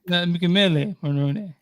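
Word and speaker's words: Michele Morrone: And that next name you pronounce in the Italian way. Oh, so it's Michelle Marrone. Michele Marrone.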